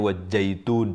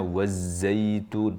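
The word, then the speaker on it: وَالزَّيْتُونِ: Belum lagi kalau kita coba cek kata-kata berikut-berikutnya dan huruf-hurufnya wazzaitun mungkin sebagian kita mengucapkannya wajitun jadi jim misalnya atau wajitun pakai th misalnya t-nya harusnya wazzaitun.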